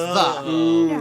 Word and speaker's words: Ye: know um the places that say like like Ye Old shop um the is actually supposed to be the it's just the it's just the it it's not standing it literally supposed to be pronounced the but it's a y it's because the Y